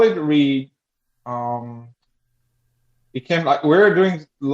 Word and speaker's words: REA: Um so we call it Reed.